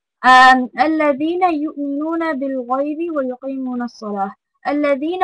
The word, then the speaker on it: الذين: الذين over here we learned again that it's the tongue the, right? You need to extend over here الذين, right? Because the ya has a sukuna, you need to extend there الذين.